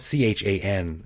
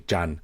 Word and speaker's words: Chan: my mind was along Jan Road um it's it's spelled c h an in English which a lot of people say Chan but it's actually Jan I read the street